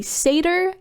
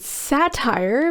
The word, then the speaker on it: satyr: By the way, fun fact, I did not know how to say satyr for a long time and always pronounced it satire because I learned how